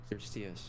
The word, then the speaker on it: Eurystheus: Yeah, I'm mispronouncing it because of my fucking New York accent and shortening that, but it's Eurystheus. Oh, Eurystheus.